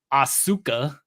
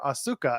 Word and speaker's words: Asuka: week how it's pronounced the U is is silent it's a bridge letter it's like you don't